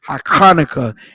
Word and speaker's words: Hanukkah: Hanukkah is the correct pronunciation for it in the ancient Hebrew.